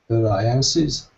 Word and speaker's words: alliances: Alliances. Okay, much better. So the stress alliances is on the second syllable, and it ends, of course, with an S sound.